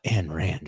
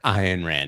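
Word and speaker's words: Ayn Rand: your twenties you're like and rand man or iron ran depending on how you pronounce it you're like oh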